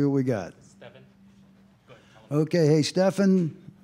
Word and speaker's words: Stefan: ask me I say you pronounce it just like Steph Curry there you go um